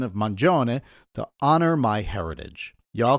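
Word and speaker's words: Mangione: And yes, I use the correct Italian pronunciation of Manon to honor my heritage. Y'all can keep saying Manioni if you want, but I'm sticking with Mjon Maron.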